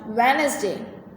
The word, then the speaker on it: Wednesday: Do you know that Wednesday is pronounced Wednesday? The first D is silent.